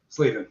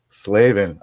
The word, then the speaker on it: Slavin: did I pronounce that right have I been pronouncing that right for Is it Slavin or Slavven? Slavven. Long a. Slavven.